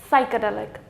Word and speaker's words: psychedelic: it then we have the word psychedelic then again P will not be pronounced because it is followed by s last is psychosis then